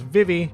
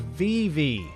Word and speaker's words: Vivi: the for kids dub Vivi's name was pronounced as vivvy much like i do however in the Funimation dub her name is pronounced as VV as in v double e VW e there is